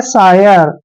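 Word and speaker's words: sire: तरीके से होता है एस आई आर ई देखिए इसको ने क्या पढ़ना है सीरे भी नहीं पढ़ना है इसको हम पढ़ेंगे सायर क्या पढ़ेंगे सायर सायर मींस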